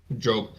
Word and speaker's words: Job: Job is pronounced. Everyone remain calm. Job.